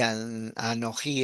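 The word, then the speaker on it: אנוכי: Así como en primera persona singular, ani es yo y anoji es anoji, porque tiene acento en la A primera.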